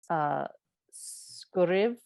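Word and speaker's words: sguiribh: And he says, phonetically, it's like skuriv.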